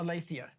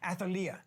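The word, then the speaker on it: Athaliah: other one is uh uh alathea I'm sorry I mispronounced the name athalia sorry athalia um and she's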